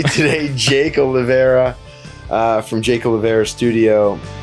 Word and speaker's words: Oliveira: I have with me today Jake Olivera from Jake Olivera Studio. And it's not actually Oliveira. It is. It would be Oliveira if you were pronouncing it with the Portuguese accent.